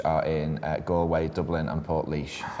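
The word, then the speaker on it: Portlaoise: Ireland um which are in goway Dublin and Port leash said that very well really well yeah um it's Lizzy's written that down phonetically for me hi Port leash hello Port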